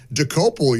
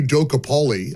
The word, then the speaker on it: Dokoupil: I heard our buddy Chris DeGaulle this morning call him Tony Docapoli. I don't know if he made that, if that was accidental. It's kind of a hard name to pronounce. It is. There's some Czechoslovakian lineage there. It's DeCopoli.